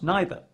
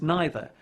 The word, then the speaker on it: neither: want to go out neither in these sentences you should use either it is also worth noting that both either and neither can be pronounced in two different ways either either neither neither